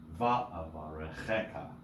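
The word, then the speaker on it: וַאֲבָרֶכְךָ: The long words, many words with many syllables might have secondary accents like va'avarecheka, right? So va and che accented.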